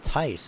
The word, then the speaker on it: Tice: Joseph Tias, I believe. Number 5 machine is Tice, actually. So apologies for that mispronunciation.